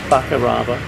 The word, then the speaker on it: Fakarava: How do you pronounce it? Fakarava.